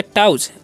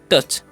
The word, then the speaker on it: touch: अब देखिए आगे क्या लिखा हुआ है TOUCH, तो इसे हम क्या पढ़ेंगे टाउच, OU का उच्चारण अ होता है, तो इसे हम क्या पढ़ते हैं टच।